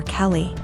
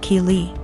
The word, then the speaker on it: Kei: more and I realized she was calling my daughter Kelly my daughter's name is Kei pronounced Kei so after school was